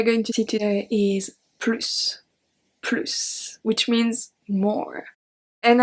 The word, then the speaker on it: plus: But an easy rule to remember, of course there's more than only that, but if it means more, then you pronounce the S.